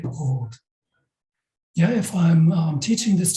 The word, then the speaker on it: rot: If it's in the beginning of the syllable, we speak it as a consonant. And then it's called, this one here in English means red, yeah, merach. It means rot, rot. And this R is exactly the same as in the Indonesian word akhir.